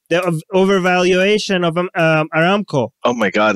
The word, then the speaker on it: Aramco: Like the valuation, they're going to privatize, pronouncing it right? Aramco? Right. Yeah, Aramco. Aramco.